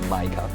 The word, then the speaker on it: MiCA: everybody is known known as Mika or Mica depending how you pronounce it but it's a pretty